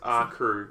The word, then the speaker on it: R_Kr3w: There's an invisible R. It's a silent R. You know how you get silent letters? Yeah. This is an invisible one. Yeah, say it, but it's not actually there. Yeah, So it's R crew.